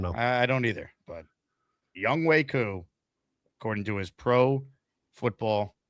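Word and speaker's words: Younghoe Koo: It is Young Wei Koo. Even though it looks like it's Young Ho, it's Young Wei.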